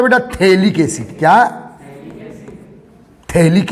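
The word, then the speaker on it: phthalic: थैलिक acid, P silent है।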